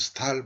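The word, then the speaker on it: Staël: 그래서 스웨덴에서는 이걸 스탈이랍니다. 그래서 스탈 부인입니다. 마담 드 스탈.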